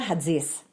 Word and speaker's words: Hatzis: So it's Hatzis. Oh, if you want to say it with a Greek accent. Oh, wait, do that again. Close. Hatzis. Yeah. Or you could also say. Hatzis.